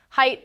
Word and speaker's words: height: Height rhymes with light, not eight, despite what the spelling suggests.